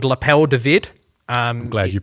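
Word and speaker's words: L'appel du vide: the end of last year, and it's called Lapel David. I'm glad you pronounced it. I wasn't. Yeah. Well, I've had so many. Lapel Divide. It's Lapel David, which is the call of the void.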